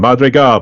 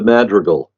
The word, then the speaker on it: Madrigal: too but you can slap me if I pronounce it wrong the M go project that pretty good it's actually pronounced the madreal project madal so yeah I know it sound